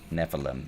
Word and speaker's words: Nephilim: Nephilim. There you go. That's how you say it.